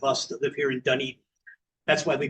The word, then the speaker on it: Dunedin: I've visited Toronto many times myself, and it's enjoyable to hear them say Dunedin and hear them say it correctly.